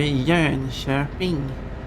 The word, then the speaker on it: Jönköping: Went through Jönköping. That's how we pronounce that place.